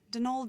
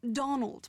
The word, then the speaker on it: Donal: That was the caretaker, Denol Delaney, not Donald, mind you. There's no D at the end, so it's pronounced Dol.